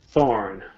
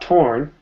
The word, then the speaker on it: thorn: sound through thorn tongue thorn not torn you're forgetting the th sound thorn good don't be